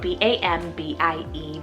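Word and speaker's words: Bambie: fun one here guys i have bambi spelt b-a-m-b-i-e bambi and this one's an animal name but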